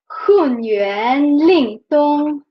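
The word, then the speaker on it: 混元灵通: So this is one word that we pronounce, this is another, but in a phrase this changed to fourth tone. So actually, it will sound like Hun, Yuan, Ling, Tong, like this. So HunYuanLingTong, right?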